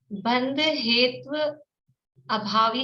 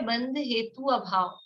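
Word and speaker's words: बन्धहेत्वभाव: कुछ लोगों ने, एक दो लोगों ने शुरू में ऐसा बोला था, बंध हेत्व अभावी शब्द क्या है? बंध हेतु अभाव, ये शब्द है।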